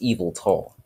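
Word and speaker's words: Yveltal: His name's pronounced Evil Tall.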